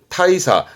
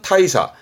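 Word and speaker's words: 大差: 대차, 발음은 타이사. 대차라 함은 큰 차이, 발음은 타이사.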